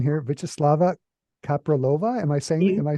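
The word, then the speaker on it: Vítězslava Kaprálová: I also want to thank you for introducing me to the music of, help me out with the pronunciation here, Vyacheslava Kapralova.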